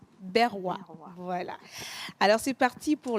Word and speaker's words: Berwa: Et vous avez un magnifique prénom, je ne sais pas si je vais bien le prononcer, c'est Berewa. Berwa.